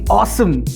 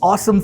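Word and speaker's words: Osom: launch in india yes i'm talking about the awesome v1 or vault one yes it's pronounced as awesome it's spelled as ozone now this is going to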